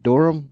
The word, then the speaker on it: Dunham: Is it Durham? Yeah, Jeff Durham is.